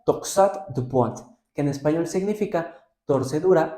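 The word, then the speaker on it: torsade de pointes: Ahora, hay una variante morfológica que en francés se pronuncia toxat du point, que en español significa torcedura o torsión de los puntos.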